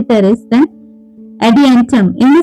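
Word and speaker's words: Pteris: Basically P यहाँ पे भी हमारा साइलेंट है, इसको हम प्रोनाउंस करेंगे टेरेस।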